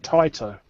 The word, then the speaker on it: Taito: You're supposed to pronounce it Taito.